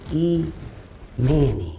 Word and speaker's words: Emanny: I just used the name she used, which is Emanny, nigga.